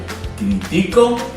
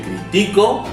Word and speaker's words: critico: ¿Veis que es la primera, es la misma palabra, pero con una acentuación diferente? Dependiendo donde vayas a acentuación o donde esté la palabra, la sílaba tónica, será aguda, llana o esdrújula.